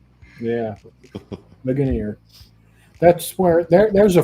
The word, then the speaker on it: Ligonier: that coffee and I couldn't remember how to pronounce it. It was like Legionnaire or Ligonier. Yeah, Ligonier.